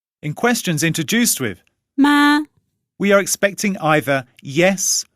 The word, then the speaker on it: 吗: And because of its special function, the word has no tones, so we only need to pronounce it very lightly. In questions introduced with 妈， we are expecting either yes or no as an answer.